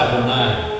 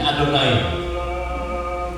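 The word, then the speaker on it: אֲדֹנָי: Se lagi silak kan harus dibaca adonai nih ini adonai makanya ketika dia begitu diberi tanda huruf hidup supaya terbacanya adonai begitu lihat tanda huruf hidupnya orang akan tahu Oh ini adonai ya begituudara itu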